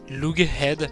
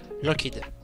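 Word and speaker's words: Loughead: Car ils en avaient un peu marre que tout le monde les appelle Lughead, alors que ça se prononce, pour eux en tout cas, Lockheed.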